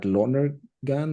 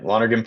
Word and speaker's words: Lonergan: long-term success at and pronounce this for me at Lner Gan or you got it longhan partners partners.